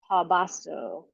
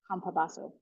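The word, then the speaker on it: Campobasso: do you want a screenshot the author's name is spelled c a m p o b a SS o Craig kabaso kabaso and I found this to be pretty accurate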